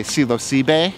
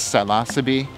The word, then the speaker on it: Psilocybe: Latin and Greek, but if you go to Mexico, they will say Psilocybe. In the United States, Psilocybe. In Italy, they'll speak it with whatever Italian pronunciation rules there are. Really, the only pronunciation rule with scientific names is that you speak quickly and with confidence and pronounce all the syllables.